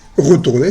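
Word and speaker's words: retourné: Retourner, el participio pasado es retourner, se pronuncia igual.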